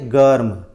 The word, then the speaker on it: गर्म: और आप ऐसे भी लिख सकते हैं, ग लिखकर ग के बाद म लिखें और म के ऊपर र लगा दें, उसको बोलेंगे गर्म। और ये जो लिखा हुआ है इसको बोलेंगे गरम। तो बोलने का उच्चारण बदल जाएगा, लेकिन दोनों शब्द एक ही हैं और दोनों ही ठीक हैं।